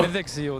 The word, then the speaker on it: Mythic Seal: It's Mythic Seal, but the Burmese pronounce it as Mythic, which is not the correct pronunciation. But Oh. Mythic Seal, that's the correct pronunciation.